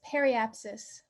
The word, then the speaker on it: periapsis: chance and circumstance and paraps prepasis is that how you say it uh it's periapsis ah periapsis music and dance